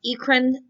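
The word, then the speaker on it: eccrine: ekron and the apocrine i've seen it pronounced ecren and apocrine but i've always just said acron and apron so we're going to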